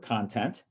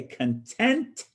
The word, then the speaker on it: content: the same way but if you say content it means a state of peaceful happiness when you say content it means the things that are held or included in something a list